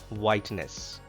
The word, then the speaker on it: whiteness: H is not pronounced in this word whiteness.